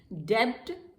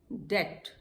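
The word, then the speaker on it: debt: डेब्ट, डेट।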